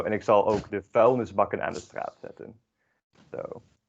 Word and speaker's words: vuilnisbakken: En ik zal ook even de voelingsnis bakken. Sorry, I don't know how to pronounce that, sorry. Yeah. It's vuilnisbakken.